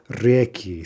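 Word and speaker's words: реки: So, for example, from reka, river, the plural we get is reki. See how it's jumping backwards?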